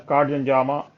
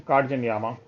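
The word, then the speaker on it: Katzenjammer: That is pronounced as Katjanyama in English. But the actual German pronunciation is Katjanyama.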